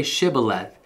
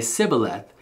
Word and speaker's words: shibboleth: am not they would tell him to say shibboleth if he was from Ephraim he would say sibboleth because people from Ephraim cannot pronounce the word correctly then they would take